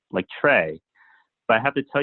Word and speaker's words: Tsui: into Tsui, because it sounds something like Trey.